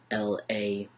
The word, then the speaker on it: labret: based off of French, if it's got an ET at the end, it's usually pronounced as an EY sound and not a ET sound. So even though it's spelled LABRET, Americans will probably call